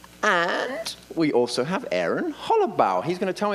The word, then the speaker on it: Hollobaugh: And we also have Aaron Hollobaugh. He's going to tell me if I've pronounced it correctly, VP of Marketing Communication at Hostway. Did I get it right now? Very close. It's Ba.